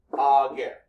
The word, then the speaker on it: ager: If you have two syllables, the accent is always on the first syllable. So, ager.